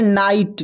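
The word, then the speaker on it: night: फिर है नाइट, नाइट में भी जी एच साइलेंट है।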